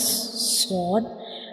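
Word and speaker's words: ص: You can see when we pronounce sword, the tip of the tongue rises towards the upper palate, touching the gums behind the upper two front teeth.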